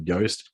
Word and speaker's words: Yoast: So Yoast is spelled like toast.